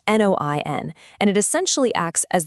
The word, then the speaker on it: Noian: It's called Noian, pronounced Noin, and it essentially acts as the ultimate AI social media manager for your Shopify store.